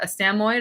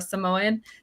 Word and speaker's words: Samoyed: our family dog was a Samoyed or a Samoyed, depending on who you are and how you want to pronounce it.